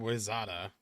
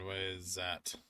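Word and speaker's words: Wayzata: It's pronounced Eveleth and Wizada. Pronounced Eveleth and Wizet.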